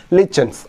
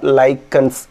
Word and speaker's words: lichens: லிச்சன்ஸ். லிச்சன்ஸ் அப்படிங்கிறது symbiotic association between லிச்சன்ஸ் ஆர் லைக்கன்ஸ். எப்படி வேணால் ப்ரொனவுன்ஸ் பண்ணலாம். நிறைய இடத்துல சிபிஎஸ்சிலலாம் லைக்கன்ஸ்னு ப்ரொனவுன்ஸ் பண்ணுவாங்க, காலேஜஸ்லலாம் லிச்சன்ஸ் அப்படின்னு சொல்லுவாங்க. both are correct.